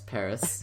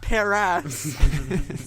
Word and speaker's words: Paras: Paris? Yes, Paris. You said it right. Oh, thank the Lord. Not Paras.